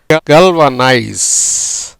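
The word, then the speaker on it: galvanise: இப்போ எப்படி உச்சரிக்கப்படுகிறதுன்னு பாருங்கள். கல்வனைஸ், கல்வனைஸ் அப்படிங்கிற உச்சரிப்பில் வருது.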